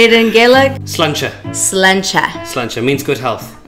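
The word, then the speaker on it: Sláinte: Slancha.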